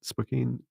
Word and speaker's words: Spokane: Is that how you pronounce it? Spokane.